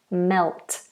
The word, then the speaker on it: melt: until it becomes liquid melt and we do have to get that dark l in there Mel melt melt melt